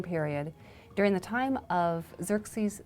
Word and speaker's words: Xerxes: His Persian name, in Old Persian, which is his original native language, is Shayarsha. Now that was hard for the Jews to pronounce, so they said Ahashverosh. We know him as Ahasuerus. And the Greeks said Xerxes, which is Xerxes, okay?